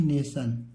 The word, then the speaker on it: nation: उसके बाद NATION को इसे नासन नहीं पढ़ेंगे, इसे क्या पढ़ेंगे? नेशन।